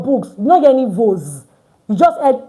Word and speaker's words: vos: So I did not pronounce this first S as Z. I didn't pronounce it at all because it's not between two vowels. So it's just vos livres, your books. But look at this one. Vos églises. Your churches. Why? Because we have S in between two vowels.